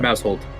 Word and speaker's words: Mousehold: how you pronounce it yes mousehold like like a household it's a household of mouse mousehold okay well you have